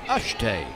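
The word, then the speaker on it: Eschete: it's fouled away is spelled e-s-c-h-e-t-e and pronounced ashtay Heath has been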